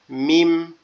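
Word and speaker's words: ميم: মিম। মিম, একদম সহজ উচ্চারণ। মিম, মিম, মিম। দুই ঠোঁট একটু ফাঁক হয়ে আবার একসাথে লেগে যাবে।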